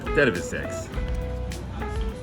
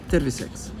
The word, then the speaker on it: terviseks: Terviseks.